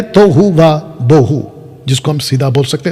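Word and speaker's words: תֹהוּ וָבֹהוּ: Colour में, लिखा है तोहू व बोहू। प्रोनाउंसिएशन आगे पीछे हो सकता है, लेकिन इसको ये कहते हैं तोहू व बोहू, जो भी है, जिसका अर्थ है उथल पुथल।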